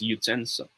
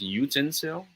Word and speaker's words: utensil: Believe it or not, it's pronounced as utensil. Okay? Many Filipinos, many of us says utensil.